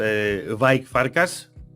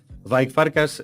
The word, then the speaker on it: Vajk Farkas: nuestro invitado de hoy es vi farcas pronunciado bien vi farcas es el responsable del